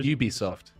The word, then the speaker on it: Ubisoft: Or Ubisoft. Yeah, it is Ubisoft. We know that because they don't put AN. If they say like a Ubisoft game, they don't say and Ubisoft game. It's fucking weird. Ubisoft.